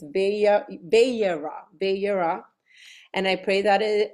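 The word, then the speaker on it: Vayera: I always forget how to pronounce it. Let me see. It's YERA.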